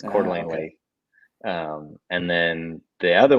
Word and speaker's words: Coeur d'Alene: two home lakes so cda is coeur d'alene it's cordlingly um and then the